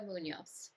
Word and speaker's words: Muñoz: because that may not be how you pronounce it how I just did. Oh yeah, it's okay. It's Munos.